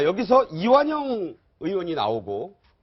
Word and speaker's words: 이완영: 이제 정의당 의원 2 이완용 으로 잘못 발음을 해서 또 의도적 오독 아니냐 이런 얘기도 있었는데 자 여기서 이완영 의원이 나오고 또 그